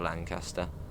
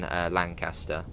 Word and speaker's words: Lancaster: So basically we're going to be coming off and into Lancaster.